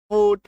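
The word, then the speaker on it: foot: जब किसी शब्द में डबल ओ के बाद टी आ जाए तो ऐसे शब्दों में भी उसका उच्चारण उकार की मात्रा होगी। एफ डबल ओ टी फट क्लियर है।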